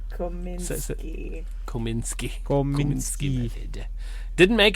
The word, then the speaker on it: Kominsky: The Komsky method. Kaminsky I method. said it wrong Again. God. How's it spelled? Kominsky.